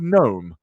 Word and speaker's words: gnome: genius it's been silent do you know why i think it's silent because i once looked at a dictionary and i saw the word gnome and it went as